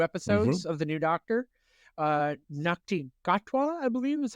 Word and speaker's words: Ncuti Gatwa: Ncuti Gatwa, I believe is how it is pronounced.